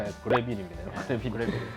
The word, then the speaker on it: 그래비트: 뭔가요 이거 이름은 레이입니다 아 우주선 빌린가 그래빌 그래비티 아니 빌립니다 그래비티 그래빌 발음에 주 주의하셔야 돼 야 이것도 여러분 제품